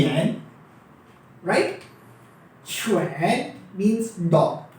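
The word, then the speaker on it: 犬: मेरे ख्याल से मैंने क्लियरली लिखा, ये डॉग है, इसके मायने हैं डॉग के और प्रोनाउंसिएशन है छुएन, राइट। छुएन छुएन।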